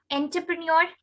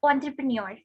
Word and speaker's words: entrepreneur: reading these days you used the word and entrepreneur you said something like that right entrepreneur so uh when it comes to the pronunciation part it's pronounced as entrepreneur yeah yeah I know you must be knowing